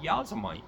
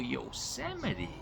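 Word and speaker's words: Yosemite: I mean, my whole life I read Yazamite. I didn't know what the it was, what Yazamite was. But yeah, now it all makes sense to me. Pronunciation means a lot, man. Oh, yuseite. Yeuseite.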